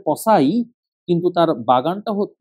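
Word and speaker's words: Poiseuille: না হ্যাগেন পসাই ইকুয়েশন সে একজন ফ্রেঞ্চ লোক যার কারণে উচ্চারণ হবে পসাই কিন্তু তার বাগানটা বানানটা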